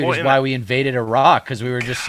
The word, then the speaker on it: Iraq: make sure we pronounce the Middle Eastern countries properly because no one else does. Of course. So it's as if they have two R's. So it's Iraq Right.